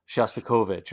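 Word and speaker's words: Shostakovich: to copy it but no you know that's pronounced shastovich or whatever it is and he just and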